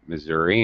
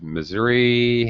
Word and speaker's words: Missouri: in the state itself, it has two pronunciations. So even the people from Missouri sometimes call it Missouri. It's very interesting, and people all around the United States, Missouri, Missouri. You're going to hear many pronunciations.